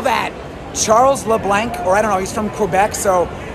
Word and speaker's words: Charles LeBlanc: And that one was also hit by Charles LeBlanc. And that is how to pronounce his name. I heard him being announced.